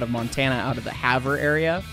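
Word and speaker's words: Havre: Montana out of the Haver area Haver Montana h-a-v-r-e because it's spelled weird anyway um so they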